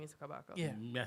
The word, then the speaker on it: Kabaka: why Kibaka, so him The say. name's man is Kabaka. We don't really. Yeah. Yes, it does matter. The man's name is Kabaka.